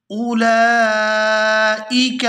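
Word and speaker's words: أولئك: हमज़ा के आगे वाव है, ये वाव साइलेंट है, इसको नहीं पढ़ा जाएगा और हमज़ा को बगैर खींचे पढ़ेंगे। आगे लाम के ऊपर खड़ी ज़बर है और मद है, इसको खींचा जाएगा।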